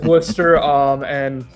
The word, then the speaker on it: Worcester: Everybody pronounces Worcester, but there is no H in it. It is Worcester. Pretty much born and raised in Worcester.